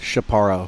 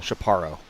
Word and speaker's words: Shaparo: pitcher's last name pronounced shaparo shaparo not to be confused with Shapiro Shapiro falbo out of